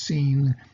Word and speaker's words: Sin: them out into the desert of seeing it's pronounced seen just to die of